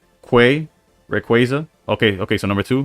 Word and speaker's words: Rayquaza: But apparently, it's pronounced qu Rayquaza.